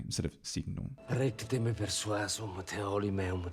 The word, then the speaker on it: signum: The GN ought to be more like signum, and I talk about this in the GN video. Signum. That would work. Instead, because you try and do this hard G in front of the N isn't a normal thing for an Italian to do anyway, so he comes up with this siginum, and it sounds pretty funny instead of signum.